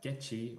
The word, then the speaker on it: GECI: So, FIDE's Women's Commission in 2023 created what was called the GECI, or GECI, depending on your pronunciation, the Gender Equality in Chess Index.